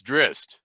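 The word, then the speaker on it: Drizzt: just listen to bob he'll say it's drist i created the character myself it's dressed you know so okay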